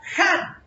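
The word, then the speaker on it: גן: Pero la palabra hebrea para denominar Edén es la palabra Han. G-A-N. Han o Gan, como lo quiera pronunciar.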